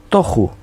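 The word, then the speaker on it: תֹּהוּ: La palabra desordenada en hebreo es tohu, T-O con acento en la O, J-U, tohu, que significa desierto, desolado, yermo, desordenado.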